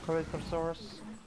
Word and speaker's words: Corythosaurus: Corythosaurus. That's how you say it. Terrible at pronouncing things.